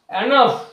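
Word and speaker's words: enough: আরো কিছু ওয়ার্ড রয়েছে এনাফ ই এন ও ইউ জি এইচ এখানে জি এইচ যে লেটার দুটি শব্দের একদম শেষে রয়েছে এক্ষেত্রে জি এইচ এর যে প্রোনাউন্সিয়েশন টা হয়ে থাকে বাংলা ফ এর মত ঠিক একই ভাবে এনাফ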